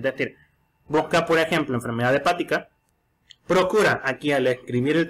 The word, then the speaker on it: hepática: Entonces, con enfermedad hepática lleva acento en la primera A, hepática.